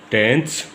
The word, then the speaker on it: tenths: देखिए, ये शुरुआत होती है इस तरीके से, टेंथ्स, स्पेलिंग में फ़र्क है, देखो TENS है, ये TENTHS होता है।